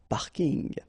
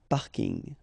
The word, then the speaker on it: parking: from English but still you should pronounce it the French way parking parking okay and the last